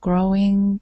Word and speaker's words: glowing: The young children were already gathering around the glowing coals of the fire to hear the stories. Good. Let's practice this L on glow. So glowing.